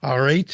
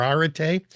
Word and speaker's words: arete: I think it's pronounced both ways, arete or arete, and eudaimonia, excellence and flourishing.